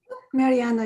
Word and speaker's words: Mariana: or anyone yeah yeah mariana okay thank you toastmaster mariana am i pronunciate pronouncing it right mariana is perfect thank you thank you